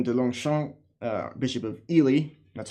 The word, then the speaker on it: Ely: It's Ely. It's pronounced Ely.